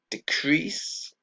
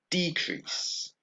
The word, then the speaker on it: decrease: and the same stress we have decrease and the noun is a decrease so like we saw before with increase and increase we have the same change in the word stress decrease uh decrease and the other one